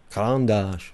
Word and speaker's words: Caran d'Ache: Caran d'Ache.